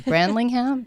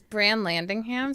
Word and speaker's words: Brand Landingham: have asked you Bevan your last name is not easy brand lingham its brand Landingham brand landing - landing on a ham oh my god I